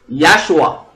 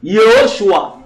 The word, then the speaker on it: Yahshua: Ça se prononce Yahshua. Tu peux dire Yehoshua.